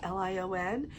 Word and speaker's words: Heraklion: They've got the archaeological museum there in Heraklion, or Heraklion, however you want to pronounce that. It's Heraklion.